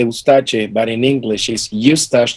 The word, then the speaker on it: Eustache: a how do you say it yes dash you stash because seeds of like new stash with an